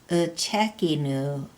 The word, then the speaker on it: uchekinu: Down a little further, you can see he wrote uchekinu with a long U at the end.